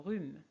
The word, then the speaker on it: rhume: Le H dans hibou et H dans rhume.